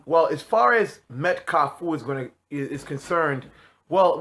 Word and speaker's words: kafou: so you know just give me a little correct pronunciation of how you would basically say it so you know kafu you know so that's the the the you know the correct way of pronouncing it in Haitian Creole now when you know